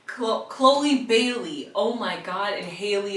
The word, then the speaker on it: Bailey: So moving on to Chloe Haley. Hi, is that how you pronounce her last name? Chloe Bailey.